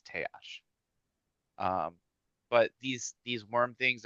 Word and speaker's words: Taash: The way that I imagine the goblin language is it's somewhat like Japanese where all of the letters are pronounced. Hmm. Um, so that's it's Teash.